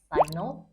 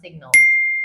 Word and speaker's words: signal: Apakah bacanya signal atau signal? Sekali lagi, dua-duanya salah. Sorry ya. Jadi yang benar pengucapannya adalah signal.